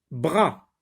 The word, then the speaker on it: bras: Bras, bras, bras ne contient qu'un seul ou bien ne se compose que d'une syllabe, bras. Le S est une lettre muette. Donc, br plus A, ça se dit bras, bras.